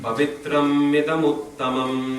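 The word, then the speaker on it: pavitram idam uttamam: Pavitram idamuttamam. Pavitram idamuttamam. Pavitram idamuttamam. Pavitram idamuttamam. There's a tendency to pause after pavitram, but there is no pause there. It's a short syllable.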